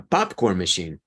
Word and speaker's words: popcorn machine: a pop machine a popcorn machine so the stress is on pop and continues to be after you add the war machine popcorn machine foreign popcorn machine another